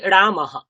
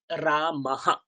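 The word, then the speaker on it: রামঃ: তাহলে রামহ কি পাবো? রামহ। বিসর্গের আগে অকার আছে, তাহলে কি পাবো? রামহ রামহ রামহ।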